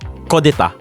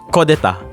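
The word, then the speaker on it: coup d'état: of the word is kodeta. What? Kodeta. Okay, the spelling is? It's actually borrowed from, I think, French word, and then it was adapted into English.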